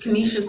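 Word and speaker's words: Canisius: Oh Kenishas. Kenishious College.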